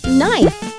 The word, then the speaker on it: knife: Could you share with the kids what are these words that start with the letter K, but the K sound is silent? All right. Listen carefully, kids. Knot, knife, knob.